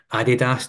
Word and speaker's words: Adidas: So currently the group I work with just now are sponsored by Adidas or Adidas to pronounce it correctly.